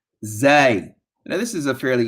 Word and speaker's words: zay: Next letter, zay. Now this is a fairly easy letter. Okay, it's going to be pronounced just like we do the last letter of the alphabet in English, which is what?